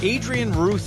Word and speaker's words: Adrian Ruth: Adrian Ruth, am I pronouncing that right?